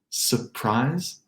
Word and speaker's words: surprise: Let's call it a dropped R in surprise, surprise.